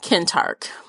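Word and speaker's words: Kentarch: tark Kent arch yeah the audiobook pronounced him Kent Hart okay so that's what I'm rolling with um yeah I liked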